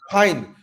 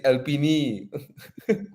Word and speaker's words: Alpine: Imagine some Kampung uncle see the Alpine, they say Alpini. No lah, we call Alpine lah.